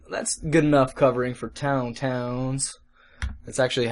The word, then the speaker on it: tauntaun: Okay, so that's good enough covering for tauntauns. That's actually how they're pronounced.